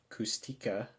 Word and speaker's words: Kushtaka: long time she believed the kushtaka often pronounced kustika were frighteningly real mainly